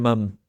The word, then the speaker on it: mum: What's your mum been up to? My mom or my mom? Okay. I always say your mum. That's M-U-M. That's the British Uh-huh. spelling and pronunciation.